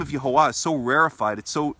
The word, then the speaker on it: Yahuwah: therefore there would be no reason to assume that that when we pronounce those vowels that the pronunciation would have any kind of continental or stoppage of the mouth in when when the name is pronounced therefore I I don't think it would be logical to assume that the name is you hold vah because the book would